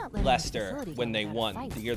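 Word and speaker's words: Leicester: I always saw it and thought lester like Ellie. Yeah, it's British so they pronounce it however they want. But I know what to be. I know it as least.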